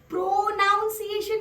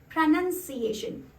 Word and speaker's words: pronunciation: world अगला शब्द है ये प्रोनॉन्सिएशन नहीं है ये देखिए उसके स्पेलिंग में भी नाउन नहीं है नान है प्रनंसीएशन प्रनं भी नहीं और प्रोनाउन तो बिल्कुल भी नहीं इट्स जो दिस प्रनंसीएशन